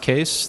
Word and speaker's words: Kees: intro um I'm case it's pronounced case the spelling is Dutch and it's my grandfather's fault but um you can